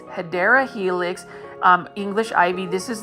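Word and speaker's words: Hedera helix: here is our first HRA helix or the correct way to say it is hyera Helix um English ivy this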